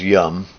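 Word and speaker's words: Yam: the air Mantra is Yum again spelled y-a-m like em but pronounced yum for the bijamantra for air here yeah the realization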